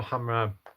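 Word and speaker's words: Khamrah: These right here, Latafa Hamra, it's it's pronounced Hamra, I believe, but it's spelled with a K.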